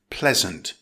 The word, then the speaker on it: pleasant: It's pronounced pleasant, with a stress on the first syllable.